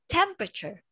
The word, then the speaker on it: temperature: Read the word temperature. Can you say it? Temperature. Temperature. Yes. Remember that. Do not read the word E. We don't say temperature. That's wrong. We don't say the E.